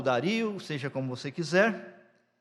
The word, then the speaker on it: Dario: até o rei Dario alguns pronunciam Dario para mim parece que é Dário não sei que é